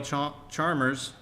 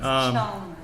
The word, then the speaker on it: Chalmers: I spoke the name wrong. I apologize. I was reading as it was written. Apologize. My fault. Spelled. It's Chalmers. I forgot the L.